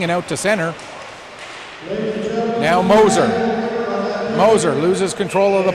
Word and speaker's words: Moser: finally told me that it was Moser and not Mosier.